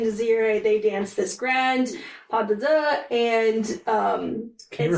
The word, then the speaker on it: pas de deux: So anyways, after the guests have paid their respects, then Aurora and Desiree, they dance this grand pas de deux, and Can you it's repeat just that?